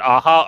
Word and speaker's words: Aja: David Aha or Aja?